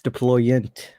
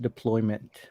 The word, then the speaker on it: deployant: peeve of his uh it's deployant not deployment um kevin says can